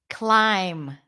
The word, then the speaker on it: climb: Climb. Very good. All right. So all those words that have the MB spelling pattern, we don't pronounce the B sound.